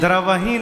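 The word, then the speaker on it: द्रवउ: वहां द्रवही पढ़ते हैं। द्रवही सो दशरथ अजर बिहारी द्रवही नहीं है।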